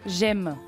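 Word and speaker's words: Gemme: J'aime. Eh ben voilà. Mais ça ne s'écrit pas comme j'aime. G-E-2-M-E.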